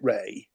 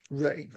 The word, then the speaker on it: Rea: would you say David Reer or Ray for our guitarist here? Ah, according to Wikipedia, he pronounced it Ray. Ray.